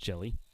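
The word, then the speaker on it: Hjelle: there to jake jelly it's spelled h-j-e-l-l-e but pronounced jelly 61 hits for him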